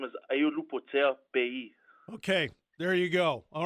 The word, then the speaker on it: Aiolupotea-Pei: So it's called, my last name is Ayolupotea Pei.